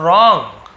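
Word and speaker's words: wrong: को रॉन्ग यानी गलत, यहाँ पे डब्ल्यू साइलेंट होता है, जैसे राइट वहाँ पे WRIT राइट लिखते हैं, लिखने वाला राइट ना, RIGHT राइट तो दूसरा होता है, तो राइट रॉन्ग है ना, रिटर्न, ये सब में WR एक साथ रहता है, लेकिन W वहाँ पे साइलेंट रहता है।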